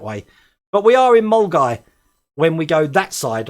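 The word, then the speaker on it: Milngavie: I'm just glad I can pronounce Mulgai properly rather than Milgavi.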